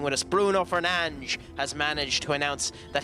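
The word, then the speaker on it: Bruno Fernandes: How do you feel about United's announcement that Bruno Fernanch, well, actually use actual pronunciation since he's actually staying with us. Bruno Fernanch has managed to announce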